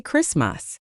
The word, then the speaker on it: Christmas: We don't say Christmas. We say Christmas.